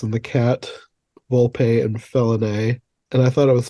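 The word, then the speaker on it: Felinet: the sister way that it sounds like felony which I thought was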